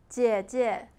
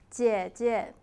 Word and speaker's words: 姐姐: I, me, myself in Mandarin, 我, 我, and elder brother, 哥哥, 哥哥, elder sister, 姐姐, 姐姐. When two syllables are of the same composition, the second syllable will be pronounced as natural tone.